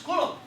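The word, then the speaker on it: coulomb: cou É tem que se acostumar com a pronúncia coulom e agora que eu descobri a quantidade de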